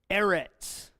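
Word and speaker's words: אֶרֶץ: have to see goals Eretz a all if is silent yeah Rhett's two syllables air rats and means earth land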